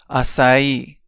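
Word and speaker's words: açaí: let's break this down a sa e and remember that the stress goes on the E and one time fast aai next we have na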